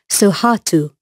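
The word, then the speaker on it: Sohatu: really beautiful he's a baby lion he's called suhatu i'll spell that for you so you can find out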